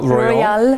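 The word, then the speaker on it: Royole: Royal.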